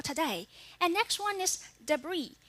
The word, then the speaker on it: debris: and next one is debris here turns into the silent s in the end that means peace is